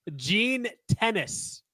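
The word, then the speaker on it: Gene Tenace: Gene Tennis. Not like the sport tennis. I think that's how you say his name.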